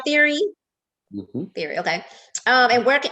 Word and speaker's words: Thierry: right oh i am saying it right right theory theory okay um and where we can purchase